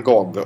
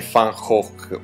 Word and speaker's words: Gogh: Parliamo un po' di Van Gog o come si dovrebbe pronunciare correttamente, Fhawk, volendo essere olandesi al punto giusto.